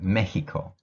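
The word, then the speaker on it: México: salvador guatemala guatemala honduras in spanish the x you pronounce it like an h in english right mexico nicaragua nicaragua panama panama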